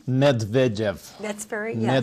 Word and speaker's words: Medvedev: president of Russia, which is, I let you pronounce his name. Medvedev. That's very, yeah. Medvedev.